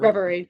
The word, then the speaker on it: Reverie: Um yeah, the three songs I'm going back to the most is Denial, Find Another Way, and I'm think I'm pronouncing this right Reverie. Reverie.